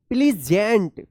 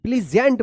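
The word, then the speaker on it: pleasant: ए एस ए एन टी क्या पढ़ेंगे इसको प्लीजेंट प्लीजेंट पढ़ेंगे।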